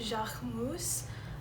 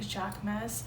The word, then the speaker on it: Jacquemus: the brand jachmus um i think that's how you pronounce it because he is a french designer and this is a french brand i know if you're in america we pronounce it like jack mass this brand was created